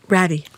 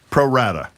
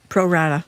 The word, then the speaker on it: Pro Rata: How do you pronounce it, Marjorie? Ratty. No, Pro Rata. Pro Rata.